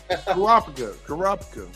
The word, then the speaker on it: Kurapika: Kurapika.